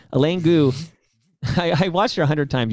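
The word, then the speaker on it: Eileen Gu: I actually don't mind if you start like Elaine Go, for example, is an American snowboarder and ski cross, etc. Who Gu? Okay, Elaine Gu.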